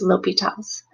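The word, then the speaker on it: L'Hôpital: learn how to use l'hopital's rule which you may see it's spelled with an S but without a nuts that S is silent it's named after the French mathematician that came up with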